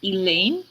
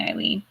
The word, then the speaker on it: Ilene: at my name and go elaine it's like it's not it's spelled i l e and e it's an i like it could be easier than the e wave spelling eileen you know you think